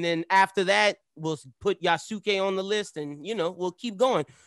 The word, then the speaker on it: Yasuke: yasuke uh sasuke yasuke i always got to do it that way because that's how his name is pronounced yasuke we're reviewing that um